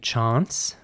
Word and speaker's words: chance: The next word is spelled C-H-A-N-C-E. How would you pronounce this word? In British English, it would be chance.